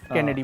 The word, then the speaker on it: Cannes: ठीक है, you have been a part of Kennedy movie. कांस नहीं होता, बताओ क्या होता है? कैन बोलो या कान बोलो, वो एस जो प्रोनाउंस भाई जो चला जाए ना उसे पता है, ठीक अरे है।